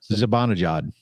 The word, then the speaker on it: Zibanejad: to Zimbalajad. hate. Zimbabwe. I don't know. How do you say his name? Zibanejad. Sabanajad?